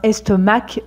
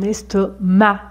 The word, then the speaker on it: estomac: C on ne dit pas un estomac mais un estomac ici on ne prononce pas le C allez on continue avec